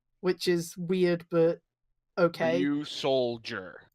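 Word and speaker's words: Ryusoul: is weird but okay you soldier well yeah it's like pronounced like a soldier it's old yeah it has this big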